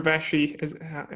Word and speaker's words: Vashi: For example, you're Vashi. Am I pronouncing that right? That's Vashi.